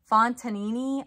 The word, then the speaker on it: Fontanini: it is a fond oh fontanini i think is how you say it it's right here um